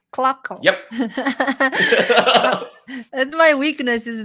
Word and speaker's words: Klockow: Klockow. Yep. That's my weakness is don't know how to pronounce people's names sometimes.